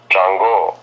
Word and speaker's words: Chango: How you pronounce it? Chango.